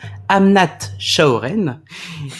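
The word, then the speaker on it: Amnat Charoen: très rurale qui s'appelle, et attention à la prononciation, Amnat Chaoren.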